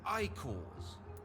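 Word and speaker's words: Ekon: They called them Icors. So it's pronounced Icor.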